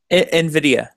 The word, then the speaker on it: Nvidia: I don't know how to pronounce that. Nvidia.